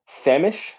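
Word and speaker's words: Sammamish: redmond what is that samish is how you say it samish i'm not even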